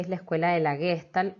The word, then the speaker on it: Gestalt: Vayan prestando atención a este concepto de totalidad, porque la Gestalt, en alemán, Gestalt, con una pronunciación alemana como corresponde, por supuesto, viene a traducirse como estructura, ¿sí?